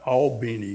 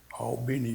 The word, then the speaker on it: Albany: So we got on the plane to fly back to Albany is the way they pronounce it, Albany, Georgia.